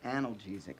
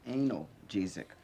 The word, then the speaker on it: analgesic: headache didn't go away it's actually pronounced analgesic not anal gzick all right the pills